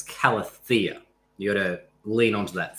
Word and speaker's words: Calathea: So yeah, the emphasis is on the thea. So it's not Calathea, it's Calathea.